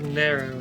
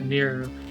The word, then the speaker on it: Nero: narrow yes it is narrow not Nero they pronounce it narrow in lunar Knights oh hey so what's